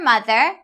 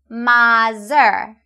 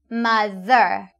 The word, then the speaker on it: mother: And this is your mother, and here is your father. Pay attention to the sound the in these 2 words. I often hear you say mother or father, but the correct pronunciation is mother and father.